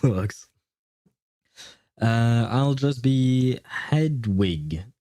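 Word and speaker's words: Hedwig: Is that how you pronounce it in English? Because in French we pronounce it. It's not written exactly the same way if I recall correctly. And we pronounce it edge.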